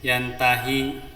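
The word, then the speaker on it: يَنْتَهِ: surah al-alaq ayat 15 huruf H di sini bukan had Dir maka dibacanya pendek yantahi ya Kalla laillam yantahianasfaam binasiah ya lam yantahilanas ini kan bacanya harus harus lanjut ya jangan G berhenti lam yantahilanasam binasiah Jadi enggak boleh lam lam yangantahi lanas gitu enggak boleh harus dibaca pendek hya ini Kemudian pada surat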